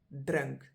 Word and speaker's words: drink: second one is drink spelled exactly like the English drink but just pronounce a little bit differently drun and the example bottom